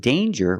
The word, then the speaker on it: danger: danger and anger so with danger we hear the J sound danger there's no nasal sound there's no it's a regular n Dane J with a J sound like jump and Juice danger but we see